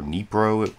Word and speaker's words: Dnipro: Williams reporting from Dnipro, or Dnipro, I guess it's pronounced, and I had to